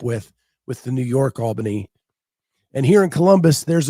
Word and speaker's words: Albany: from the States and still pronounce it Albany. Yeah, Albany. Yes. Uh, Southerners who know Albany, Georgia are familiar with a much different pronunciation.